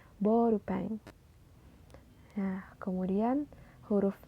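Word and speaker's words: ボールペン: beda seperti kata seperti huruf o dan u dibacanya itu O panjang seperti kata borupen Bukan bourupen tapi borupeng nah kemudian huruf e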